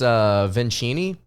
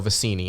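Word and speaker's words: Vecenie: I believe it's Vincini is how you pronounce his name. No, Vicini. I'm so sorry. I misread that.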